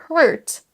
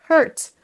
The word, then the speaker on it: hurt: Faites bien la distinction entre heart, le cœur, et hurt, hurt.